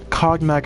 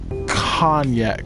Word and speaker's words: cognac: cognac back in college i'm sorry cognac is pronounced khan yet cardiac it's a liquor oh oh idiota thank